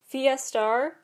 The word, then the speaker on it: Fiestar: why they chose that fiestar which is like Fiesta but star at the end and the lets the